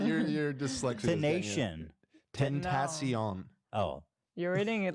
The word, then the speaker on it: Tentacion: No, Temptation. but Temptation that's Island. better. That's closer. That's closer. Okay, yeah. Tentacion.